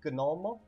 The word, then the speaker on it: gnomo: The G is actually pronounced, unlike English where you say gnome and it just drops the G sound. In Esperanto, every single sound is pronounced, so it's gnomo, gnomo.